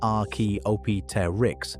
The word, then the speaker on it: Archaeopteryx: a strange feathered oddball called Archaeopteryx, pronounced ar-key-op-ter-ix, that lived about 150 million years ago in what is now Germany.